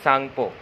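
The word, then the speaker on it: Tsangpo: हम बोलते हैं वारलंग सांगपो। वारलंग सांगपो, इसमें टी को हम प्रोनाउंस नहीं करते। जब टी और एक्स एक साथ लिखा होता है, टी और एस, तो हम टी नहीं पढ़ते, सिर्फ सांगपो पढ़ते हैं।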